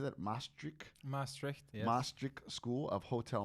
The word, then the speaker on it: Maastricht: Maastricht, yes.